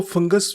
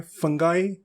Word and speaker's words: fungi: इसकी 4 प्रोनाउंसिएशन जो है एक्सेप्टेबल हैं. इसको कुछ लोग कहते हैं फंगी, कुछ कहते हैं फंगाई, कुछ कहते हैं फंजी और कुछ कहते हैं फंजाई.